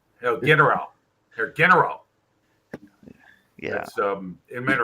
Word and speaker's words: Herr General: You got to have that hard G on the general. General. Herr General.